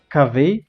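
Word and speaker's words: Kaveh: Então é assim que se pronuncia o nome dele? Cavei, cavei, cavei, cavei.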